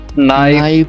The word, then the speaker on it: knife: तो उसमें जो के होता है वो हमेशा साइलेंट रहता है. Yeah. Now, Sukhdeep, can you read these words for us, please? Knife, no, knee, not, knowledge.